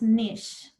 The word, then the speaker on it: Knysh: your last name correctly it's pronounced niche it's an environment yeah yeah very unusual what nationality is that it's ukrainian okay it's interesting because in ukrainian we actually pronounce the k and we say clich but in english it doesn't translate that way it's a bit different okay oh there you